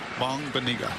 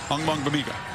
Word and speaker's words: Ogbongbemiga: Maybe your favorite name to pronounce this season? Once you get it down, it's a fun one. Ogbongbemiga. Ogbongbemiga.